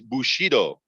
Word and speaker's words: Bushido: make sure I'm pronouncing it correctly the correct pronunciation is Bushido and Bushido is the uh warrior code of ethics for